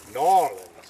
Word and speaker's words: New Orleans: but when I hit New Orleans or as locals say nor Orleans I thought I was